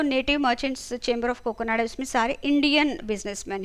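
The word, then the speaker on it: Kakinada: एंड ये बना था काकीनाडा, आंध्र प्रदेश, उसी को इसलिए कोकोनाडा बोला है, ठीक है। उस टाइम उसका प्रोनाउंसिएशन उस तरह से हुआ करता था।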